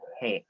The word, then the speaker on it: H: Tapi dalam bahasa Turki itu semuanya menggunakan huruf E, menjadi he. Nah, oke. Huruf konsonan, huruf ya konsonannya itu menggunakan huruf E di belakang. Cara pelafalannya. Bukan H, tapi he.